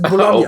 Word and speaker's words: Bologna: I mean, I was thinking the most aggressive one is probably Bologna. Because it's just Bologna.